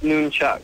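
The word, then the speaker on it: nunchaku: Yeah, it's pronounced Noonchuck.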